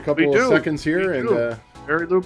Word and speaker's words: Marielou: It looks like Marylou, but it's Marielou.